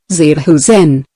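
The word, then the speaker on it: Zerhusen: This was illustrated more recently by Clarence Sahusen, pronounced Zir Husen of Timmonium, Maryland, when he discovered his 15-year-old son was experimenting with cigarettes.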